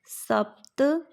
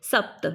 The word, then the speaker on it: सप्त: चतुर पंच षडवादनम सप्त सप्त में देखिए आधा प क्योंकि हमने इसको बोला सप्त ये सपत नहीं है। अगर शपथ होता तो पूरा प आता।